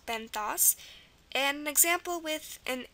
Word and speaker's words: benthos: So OS, very common, pronounced os, so benthos.